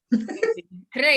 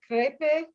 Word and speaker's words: crepi: And then you say crepe? Crepi. Crepe. In bocca al lupo. Do you spell that again? Crepe? Crepi. Crepe. Crepi. Oh, it's I.